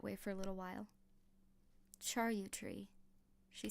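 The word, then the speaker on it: charyou tree: Charut tree, she said at last, pronouncing it as Roland had. Cherut tree with a little upturned vow at the end.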